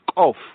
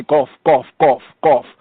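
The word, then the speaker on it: קוף: This letter properly pronounced is Kof. Kof is Kof. Some of them, the Muslims and the Arab speakers, they say Gof. They pronounce it like almost like it's a hard G sound, Gof.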